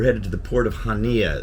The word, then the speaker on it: Chania: to the port of hania it looks like chania if you look at on the map it's ch but it's pronounced hania but anyway I've got